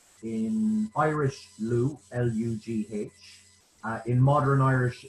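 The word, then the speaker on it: Lugh: celtic deity is what we call in irish lu l-u-g-h uh in modern irish it's spelled l u accent and that deity has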